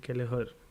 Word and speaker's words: Kelleher: I think Kelleher. That's how you pronounce it, but yep, he'll start for goal.